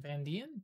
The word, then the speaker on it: Van Dien: Van Dien? Van Casper Dien? Van Dien, yeah.